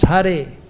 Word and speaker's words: Hare: And but while pronouncing, when calling out, then it becomes Hare. Hara becomes Hare.